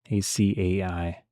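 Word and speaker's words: açaí: Next up, Babe Unimate you pronounce that, a c a i.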